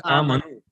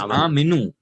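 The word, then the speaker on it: آمِنوا: Okay, you pronounce it as amanu. You pronounce it as amanu. It is aminu. Amanu would be past tense. No. Listen. Right. Amanu becomes past tense plural, and aminu becomes order plural. Aminu. Okay? Aminu is order.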